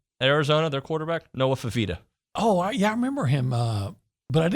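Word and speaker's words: Fifita: Noah Fafita.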